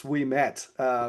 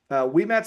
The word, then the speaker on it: Ouimet: a dude named Francis Ouimet. It doesn't look, by the way, if you're like Ouimet, that's a French spelling. It starts with an O because they pronounce their syllables all wrong.